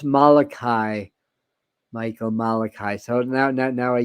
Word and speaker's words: Malachi: So it's pronounced Malachi, Michael Malachi.